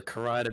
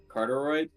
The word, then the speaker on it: carotid: Oh, Cut through your carotid artery. That's the one that pumps blood to your brain. Your throat. It's pronounced like that.